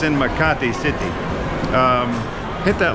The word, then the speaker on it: Makati: of the city that we are in is maati that's spelled m a k a t i Ma and um no that's not a typo that store is typo but we are in maati city which is inside of Metro Manila the